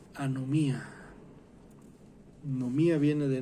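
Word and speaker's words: ἀνομία: o trasgrede la ley en griego se pronuncia a no mía no me ha viene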